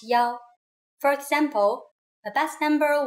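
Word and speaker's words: 幺: numbers and so on we pronounce one as Yao for example the bus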